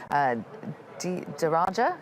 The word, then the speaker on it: DARAJA: Well, joining me now here in the studio is the Program Manager of Early Warning Weather System, DARAJA, is that how it's pronounced?